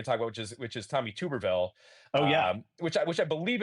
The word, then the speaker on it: Tuberville: It's Tuberville, not Tubberville, right? Actually, he was on Fox the other day, and Will Kane, in introducing the segment, pronounced his name incorrectly, and I believe he called him Tuberville. I think Tubberville is the correct pronunciation.